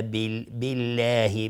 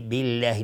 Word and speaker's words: بالله: اونجا میگفتیم فکفا بالله، بالله نمیگیم بالله، بعضی میگن بالله، این اشتباه است. نمیگیم وکفا بالله چون اینجا قبلش کسره اومده، حتما باید نازک تلفظ به لفظ جلاله.